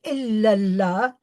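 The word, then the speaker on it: إلا الله: in this And um illallah the way we pronounce it four words but ill and Allah are joined together to become illallah. Uh this is what we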